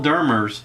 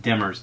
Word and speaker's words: Demers: So, Phil Dermers is the podcast. Phil, I pronounced that wrong, Demers, Demers. He's a former professional marine mammal trainer and employee at Marineland in Canada.